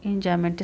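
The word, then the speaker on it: enjambment: यहाँ पर देखो इंजामेंट, स्पेलिंग लिख देती हूँ, ENJAMBEMENT। इसमें इंजामेंट बी साइलेंट रहता है।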